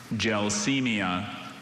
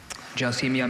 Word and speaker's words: gelsemia: Gelsemia. Gelsemia, may I have all the information, please? Gelsemia has no alternate pronunciations.